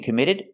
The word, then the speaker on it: committed: We hear the double T in committed pronounced as a fast D. It's between vowels. Committed. But no real crime was committed. And the last D at the end of the word committed is a stop D.